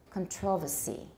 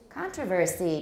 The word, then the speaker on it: controversy: one the next one in british english is still usually pronounced controversy controversy in british and that's what i hear on the bbc it's what i hear from my teacher controversy and in american we say no controversy because jerome is working on